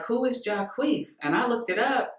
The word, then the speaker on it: Jacquees: I've Googled it like 10 times to make sure that I'm pronouncing it correctly. And I see it, you know, pronounced differently everywhere that I look. But the last place I checked, it said Jacquees, so that's what we calling him today.